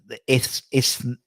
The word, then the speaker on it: Isthmian: Isthmian. Isthmian. That's Isthmian. Just forget there's like a T and H, and they just say Isthmian.